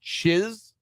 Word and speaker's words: Czyz: I've seen that last name pronounced as Chiz. Yeah, I could see that. Chiz. See, this is why we need Brendan. I think it's Polish.